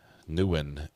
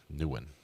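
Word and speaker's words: Nguyen: Newin is a good phonetic pronunciation for non-Vietnamese speakers. Newin. See, pounce to when. I'm going to go with when.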